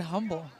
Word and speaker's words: Humble: You don't say the H. I've always said humble. It is humble, so I've been told.